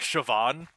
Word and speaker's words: Siobhan: We call it like we call them like shioan except it's not like it's not like the the it's not that it's the original uh gaelic. It's like Siobhan and it's spelled terribly.